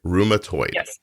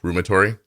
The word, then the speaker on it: rheumatoid: the correct pronunciation right rheumatoid right so room like room uh toyed like Altoid yeah and what do most people say rheumatory I just stumble over